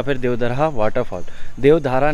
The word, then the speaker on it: Devdarha: Google map में डालोगे देवधर हक मार देवता मंदिर गए टेंपल आता है या फिर वह वाटर फोटो देवधारा नहीं है देवधर है स्पेलिंग देख सकते हो